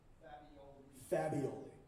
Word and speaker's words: Fabioli: So, is this Fabioli? Am I saying that right? Close? Correct me. Fabioli. In Italy, it's 3 syllables.